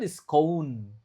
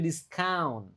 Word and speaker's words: discount: Nah, ini lagi-lagi aneh kan tulisannya ou tapi cara bacanya au discount. Bukan diskon tapi discount.